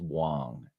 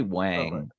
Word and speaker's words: Wang: pronounce his name wrong his last name is Wong so if you say Wang he gets all uptight